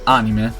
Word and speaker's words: anime: So the Hokuto no Ken War Aftermath is based off an anime, even though we have to pronounce it anime, as we pronounce it in Italy and in Japan, because of course anime are Japanese.